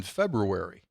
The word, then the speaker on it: February: And another one is there's an R in February. Correct. People never say that's a hard one. I just flat out ignore that. Well, just I can't think about how it's spelled. It's February. I can't say it like it's spelled. February. Well, it's like Wednesday. You don't say Wednesday. I don't. Nor do I say February.